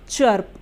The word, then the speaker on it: chirp: लिए अ हो जाएगा, R के लिए आधा र और फिर P को हम प लिखते हैं तो ये बन जाएगा चर्प, च आधा र प, चर्प, CHIRP, चर्प।